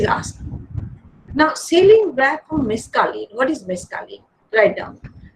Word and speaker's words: mescaline: It is sometimes pronounced as LINE also.